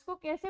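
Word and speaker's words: cake: अगर आपका ई वर्ड के लास्ट में आता है तो ई की साउंड नहीं आती है। Example केक, Apple, hope. केक, क की साउंड पे आपका वर्ड खत्म है, केक, ई की कोई साउंड नहीं है।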